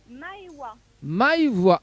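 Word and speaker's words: Maëwa: alors comment il prononce ce prénom Maïva? Alors mon Maweda, non? se prononce Maïwa.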